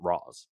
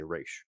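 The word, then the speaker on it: Ra's: has been adapted and they do pronounce that raw's they don't say raish and this is pre-animated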